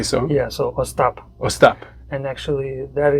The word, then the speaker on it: Ostap: your father sadie oh stop stop with the emphasis on the last okay so yeah so stop or stop and actually